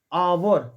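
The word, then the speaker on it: hour: यहां पे एन आएगा आवर इसको हावर नहीं पढ़ता आवर तो यहां क्या लगेगा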